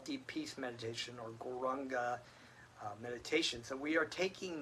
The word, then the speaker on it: Gauranga: Gaur, Ra, Ang, Ga. And then we can put those syllables together to say Gauranga.